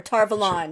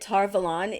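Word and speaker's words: Tar Valon: Kate reading said but I do think that tarvalon is a better pronunciation because I don't know if you know anything about um uh Arthurian Legend uh but there's a city like a country place called Avalon and I think that tar Milan is supposed to remind us of Avalon so it's a better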